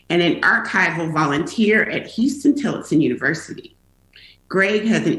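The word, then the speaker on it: Huston-Tillotson: college and just in the same way where houston tillotson is is houston like the city that's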